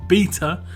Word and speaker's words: beta: update yes that's right I did pronounced in beta because that's how we pronounce it in England it's pretty much how they pronounced it in ancient Greek as oh as a bee eater but anyway the next